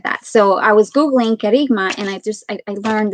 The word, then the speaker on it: kerygma: understand on the googles it's pronounced kerigma and um it's a greek word so i'm not greek